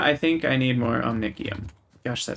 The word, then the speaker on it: omnicium: nikki i'm i'm sorry i'm pronouncing it wrong i was told it's omniccium i just keep thinking the c is a soft c what i want